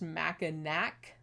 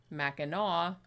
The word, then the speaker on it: Mackinac: island it's weird because it's spelled like it should be pronounced mack and nack like it ends with the sea but it's actually pronounced Mackinac and the original Native